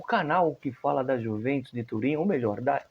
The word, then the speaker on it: Juventus: Pronuncia-se com I. A letra J não existe na gramática italiana, é uma letra do piemonte, da língua piemontesa.